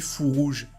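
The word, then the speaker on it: Fourreaux Rouges: Il y avait des gens qui me demandaient pourquoi tu dis fou rouge, parce qu'ils pensent que je dis pas le R. Non, c'est juste que je le prononce rapidement. Fou rouge.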